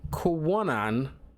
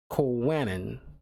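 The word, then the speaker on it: Kwannon: for this woman named Kwanon. I might be mispronouncing that name. It was Kwanon. Kwanon. Let's go with Kwanon. Kind of like canon, but Kwa.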